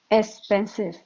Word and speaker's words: expensive: So Lan, can you say expensive? Expensive. You have to say it like it's like S expensive. expensive. Expensive. No, I'm hearing S. It's hard to say X.